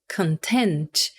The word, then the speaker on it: content: E a outra pronúncia é content. Existe um monte de palavras em inglês onde isso acontece, de mudar a sílaba tônica.